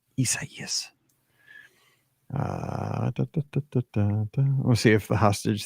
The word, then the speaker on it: Isaias: Isaias. It's 4 syllables because I couldn't say it forever. Isaias.